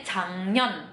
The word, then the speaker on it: 작년: Kalau kita kan huruf N ketemu G jadinya eng kan. Nah, tapi kalau misalnya dalam bahasa Korea, huruf G ketemu sama N, dia jadi eng tuh depannya. Jadinya G-nya dibacanya jadi eng, jadinya 작년.